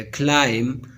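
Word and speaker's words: climb: B is not pronounced when following M at the end of a word. जब B से पहले M आता है तो बी को प्रोनाउंस नहीं किया जाएगा। क्लाइम, क्रम, डम, कम, बी प्रोनाउंस नहीं किया जाता।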